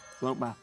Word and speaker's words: Bloat Bat: It's got some T's in it. You should pronounce them. Bloat Bat.